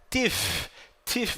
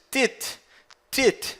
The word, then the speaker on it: teeth: Teeth, você não diz tit. Não, isso está incorreto, errado. É teeth.